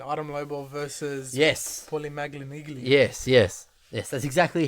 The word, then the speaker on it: Malignaggi: Paulie Malignaggi. Yes. That's exactly how you pronounce his last Yeah. name too. Malignaggi. Can't pronounce anything with an I and an L.